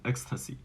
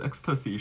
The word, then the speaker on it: Xtasi: meaning of its name, "Xtasi." So the name we choose actually comes from Tim's nickname, which has the same pronunciation with the word ecstasy.